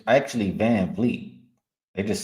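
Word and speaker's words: VanVleet: noticed his first last year but it's actually van Fleet they just say it like that van Fleet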